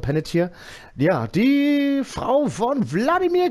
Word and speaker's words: Panettiere: Haben wir das richtig ausgesprochen, Panettiere?